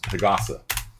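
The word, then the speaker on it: 日傘: But if you make it a compound word, like sun umbrella, it becomes hagasa, like that.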